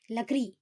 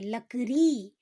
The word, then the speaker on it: लकड़ी: लवक pimple आखिरी ईएस लकड़ी ऐसे नहीं बोलते लकरी उसका उच्चारण पर जोर देते हैं फिर यहां जैसे